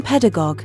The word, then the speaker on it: pedagogue: The noun pedagogue, pronounced pedagogue, originally referred to a slave who brings boys to school.